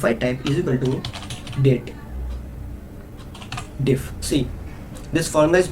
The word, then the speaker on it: DATEDIF: means the difference of two dates in shortcut date diff okay this is about the pronunciation first of all I want to clear